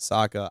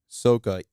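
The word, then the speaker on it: Sokka: know for three years you're just used to saying aang saka iro uh there was another one too that they also butchered they're not butchered but they kind of changed um but then you hear like ong soka ero what is that what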